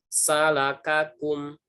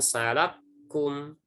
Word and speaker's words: salakakum: Jadi kita membacanya walaupun dia seperti ini tulisannya, tetap dibacanya salakakum, ya, bukan salakum.